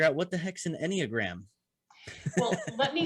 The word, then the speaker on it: Enneagram: When you're talking about that, I was trying to figure out what the heck's an Enneagram. Well, let me spell that for the audience.